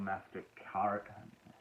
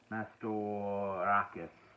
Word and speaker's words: Mastorakis: Nico Mastercart. Mastorakis.